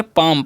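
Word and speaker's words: palm: यहाँ पर L silent है और ए का उच्चारण आ होगा, तो हम इसे क्या पढ़ेंगे, पाम।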